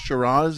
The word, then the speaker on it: Shiraz: Shiraz is 6 letters. It's 2 syllables.